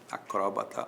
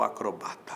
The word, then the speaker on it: acróbata: é um acróbata ou é um acrobata tanto faz acróbata ou acrobata acróbata proparoxítona com acento acrobata sem acento paroxítona o jacaré é